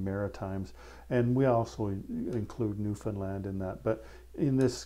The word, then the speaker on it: Newfoundland: that aren't from Canada they call that Newfoundland and that's not how we call it it's it's Newfoundland um the the emphasis is on the wrong syllable when the rest of